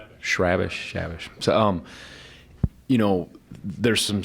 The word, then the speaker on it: Chrabascz: You know how number 45 for Butler, Andrew, I'll let Eric pronounce his last name. Shrabish.